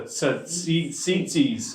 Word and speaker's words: tzitzis: What really they're referring to is something called I always say it quite wrong, but it's the tzitzis. I want to say it like the Greek sauce that you put in a falafel, right? Tzatziki sauce, really good stuff, but that's not what it is.